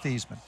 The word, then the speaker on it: Theismann: look i'll explain later just tell me how to pronounce our last name he said thiesman hung up the phone